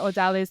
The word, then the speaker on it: Odalys: And if you're gonna call me Odalys, don't be saying Odalys or Odalys.